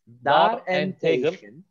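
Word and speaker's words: daarentegen: Regen, onu ayırın. Bak ya, bitişik yazılıyor ama ayrı okunur. Bu çok güzel bir örnek. Dar en tegel.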